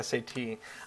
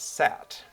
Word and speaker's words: SAT: can't remember who but they were pronouncing it sat they were they were saying it as a word instead of as a an acronym sat well really an initialism